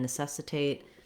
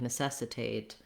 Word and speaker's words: necessitate: end that gets stressed people will over generalize that rule and stress the a in words like necessitate where they shouldn't okay so four words